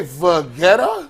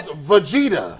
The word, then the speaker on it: Vegeta: a ghost that was good did you say V vetta is that how you pronounce it's called Vegeta oh damn it it is listen I literally